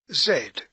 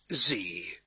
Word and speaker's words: Z: the world chapter 26 zed or as our american cousins pronounce it zee zen this is a